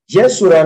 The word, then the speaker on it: Yeshua: upright one jesus jesus it says jeshua that's why how we pronounce it in hebrew because obviously that's just ebonics it says yeshua and whom i have